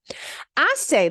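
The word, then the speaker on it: hace: part here h-a-c-e and remember we don't pronounce the h so it's pronounced I say literally means it makes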